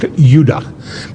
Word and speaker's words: Judah: were called Benjamin and Judah more properly pronounced yudah because we didn't get the harder sound to the J until about 200 years ago so this is